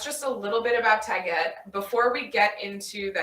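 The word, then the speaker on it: Taguette: So it's like baguette, but with a T instead. Where can I get support for Tagette?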